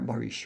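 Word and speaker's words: barış: There's a word in Turkish which is written bes pronounced as I've written there barish.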